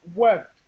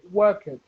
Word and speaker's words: worked: So we don't say work it. We don't say work it. Because a lot of Brazilian people say work it. It's not Yes. pronounced work it. It's pronounced worked.